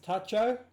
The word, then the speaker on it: Tacho: belt tcho with one am I pronouncing your name right tcho or is it Taco I know you're not talking give me hang on wait for him to put his head back on we'll get a nod is it pronounced Tacho there we go all